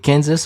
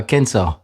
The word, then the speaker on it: Kansas: Oui, il y en a un, on prononce le S à la fin, et l'autre, on ne le prononce pas. Oui, c'est-à-dire que Arkansas, on dit pas Arkansas. Non, Et Kansas, on dit pas Kansas.